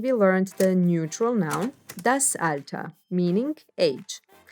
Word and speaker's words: das Alter: with a similar meaning the er at the end gets pronounced as a das alta das alta means age and is